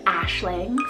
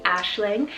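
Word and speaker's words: Aisling: on the girls side we have the name ashlang spell a-i-s-l-i-n-g ashling and this means dream or vision this is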